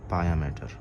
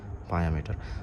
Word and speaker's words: pia mater: इसको कहते हैं हम लोग पायामीटर। ओके? पायामीटर। पाया मैटर पाया में पाया का मतलब है मदर ओके या पायामीटर या पिया मैटर अप टू यू आपने इसको जैसे प्रोनाउंस करना है राइट पाया का मतलब